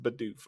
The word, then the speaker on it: Bidoof: is Like, the the German way, but it's pronounced Bidoof over here.